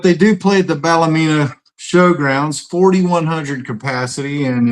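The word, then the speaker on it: Ballymena: So, but they do play at the Balamina Showgrounds 4,100 capacity and it's I mean [clears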